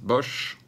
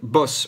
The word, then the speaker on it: Bosch: dans l'émission précédente ou les Français disent Bosch bon ça n'a rien à voir avec l'électroménager ni avec la guerre mondiale c'est boss on prononce boss voilà mais là où